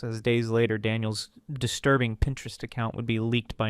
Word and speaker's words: Pinterest: In one instance, he claimed he didn't even know what Pinterest was, mispronouncing it as Printrest while visibly holding back laughter, making it obvious he was trolling.